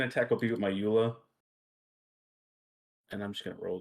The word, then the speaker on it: EULA: then my second attack will be with my EULA and I'm just gonna roll that on him